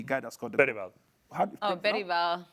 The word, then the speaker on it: Bergvall: Bergvall. Bergvall. Pronounce the name again? Bergvall. Bergvall. It's not with a Spanish accent, Alex. Everything Alex says is with this. Bergvall. He's Swedish.